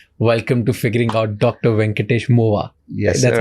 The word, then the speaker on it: Venkatesh Movva: Venkatesh Movva. Yes, That's sir. how I pronounce it?